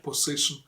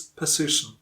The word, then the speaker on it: position: It's not position. It's position. Now, the takeaway from today's